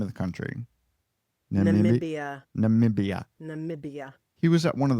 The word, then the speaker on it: Namibia: Namibia.